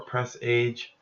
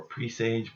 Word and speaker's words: presage: looks like it should say precede presage or press age or presage pardon me but it's pronounced presage and the definition of presage is